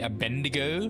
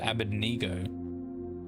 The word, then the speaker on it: Abednego: Most people say Abednego, but I believe it's pronounced Abednego. Or Abednego, yeah.